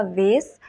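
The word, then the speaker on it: vase: American pronunciation की बात करें तो ये होगा वेस, और अगर ब्रिटिश प्रोनाउंसिएशन की बात करें तो ये होगा वास, फ्लावर वास।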